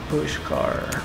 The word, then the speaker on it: Pushkar: little bit and then explore push car yes did I say it right yeah you did all right see you